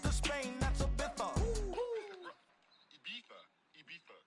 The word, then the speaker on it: Ibiza: Ibiza. Yeah, it's pronounced Ibiza, actually. What's the difference, man?